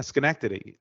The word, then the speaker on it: Schenectady: is from Bob from Schenectady New York uh did I say it right yeah Schenectady and you said it right it's Bob that's Bob